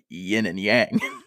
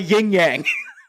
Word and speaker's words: yin and yang: Also, props to you on the correct pronunciation of yin and yang. Thank you. It's not a yin yang. Yin and yang.